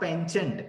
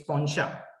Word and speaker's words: penchant: It's not penchant, it's poncha. It's a French word adopted in English.